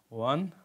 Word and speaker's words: one: ওয়া, দেখেন এখানে ওয়ান যখন উচ্চারণ করবেন তখন কিন্তু ওয়া আসতেছে, ওয়ান ওয়ান, অর্থাৎ ওয়া এর মতো কিন্তু উচ্চারণ এসেছে।